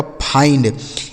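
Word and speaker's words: find: जैसे यहा पे से हो गया फ। इस आई का उच्चारण आई हो गया। एन से आधा न और डी से ड। यह लिखा गया आपका फाइंड। एफ आई एन डी फाइंड।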